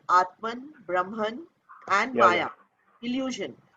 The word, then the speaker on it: Brahman: the conscious, the Atman, the Brahman, as you have told me to pronounce it, uh, and the rest of it is an illusion, which is Maya.